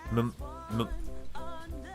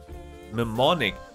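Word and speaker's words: mnemonic: Nemonic. Nemonic. So, the N is silent. You don't pronounce the M.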